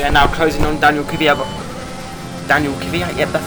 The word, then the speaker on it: Kvyat: But as we are now closing on Daniel Kvyat, yep, that's how you say his name.